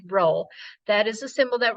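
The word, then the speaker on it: rho: population correlation coefficient is looks like this funny P it is pronounced row that is a symbol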